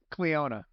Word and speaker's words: Cleona: Cleona. What? Like Fiona, but with a CL. Cleona.